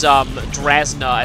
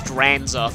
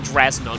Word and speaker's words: Drasna: It's still funny how I mispronounced Drasna as Dranza for the longest time. Like, it took me ages to figure out that it was actually Drasna, not Dranza.